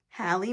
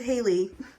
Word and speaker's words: Hallie: to be mistaken with Haley, because I'm going to be petty here and point this out. If you put a C here and it was Callie, you would pronounce it Callie.